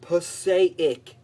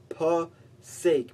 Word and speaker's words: Passaic: It's not Passaic. It's Passaic, man.